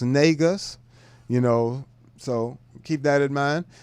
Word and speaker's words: Negus: Negus is pronounced Negus.